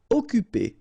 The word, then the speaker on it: occuper: Occuper. You don't pronounce the double C here, so it's really like occuper.